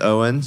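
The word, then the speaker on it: Eoghan: Your name is Eogan. It's pronounced Owens, you know, so use that.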